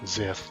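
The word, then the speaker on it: Xth: Yeah, it spelled x th. Uh, it gets pronounced either x or zith depending on what version of the you're playing.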